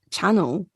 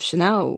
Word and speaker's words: Chanel: of like yeah like chat channel instead of chanel or you know i